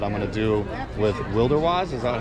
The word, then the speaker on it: Wilderwise: So stay tuned for a full-on video that I'm going to do with Wilderwise. Is that how you say it? Okay. Wilderwise.